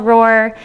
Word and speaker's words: ROR: And today we are going to talk about ROARs, not like the lion roar, but that's how you pronounce it. So I'm going to talk to you about a project called ROR, in which we are building an open registry of research organizations.